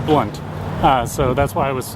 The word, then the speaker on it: Blount: Okay, so here's the Blount Mansion. It's pronounced Blunt, so that's why I